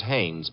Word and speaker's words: Haines: Heinz used to fish uh no no not Heinz hain couldn't be hummingbird no it couldn't be the name is Hannes H AI and hey well what do you